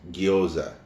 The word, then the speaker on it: gyoza: hot stickers or as a Japanese version is gyoza gyoza it's spelled ji y OU z a gyoza um